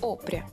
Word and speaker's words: Опря: Ударение на Опря или Опря? Опря. Опря.